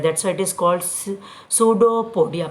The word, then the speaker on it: pseudopodia: That's why इट is called सूडोपोडिया। बेटा P silent होता है। What I am saying the word, मैं P word नहीं बोल रही।